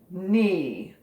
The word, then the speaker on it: knee: go to another one with a silent k knee knee did you fall down